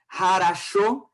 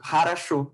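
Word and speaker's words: хорошо: Então, às vezes, a gente se confunde muito lendo, quando é para ler Harasho, que se escreve Chopovo, né, com W, em português, se fosse para isso. E a gente tem que falar em russo, Harasho.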